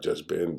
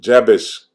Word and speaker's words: Jabesh: Not Jezbin, but Jabesh.